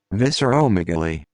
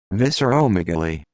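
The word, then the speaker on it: visceromegaly: the meaning enlarged internal organs let's see the pronunciation visceral megaly visceral megaly visceral megaly visceral megaly visceral megaly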